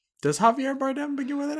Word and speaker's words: Javier Bardem: Does Javier Bardem begin with an H? Are we just... No, it doesn't. It's a J, but it's an J. H sound. It's an H sound.